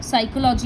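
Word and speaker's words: psychology: और हाँ, silent letters वाले वर्ड्स को मत भूलना, जैसे सुनामी में टी साइलेंट है, साइकोलॉजी में पी साइलेंट है, उस तरह से.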